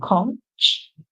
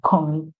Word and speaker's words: conch: And that's because in the British pronunciation, you would hear conch, conch. And in the American pronunciation, you would hear conch. So the CH at the end for the British pronunciation makes an SH sound and the CH for the American pronunciation makes a K sound.